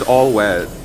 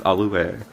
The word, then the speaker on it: Alouette: Her name is All Wet. No, it's Alouette.